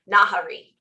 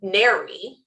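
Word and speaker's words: Nahri: to say her name, Nahari. Oh, okay. Nahari, yeah. Nahari. Well, and I said the worst one I looked up, it said Neri.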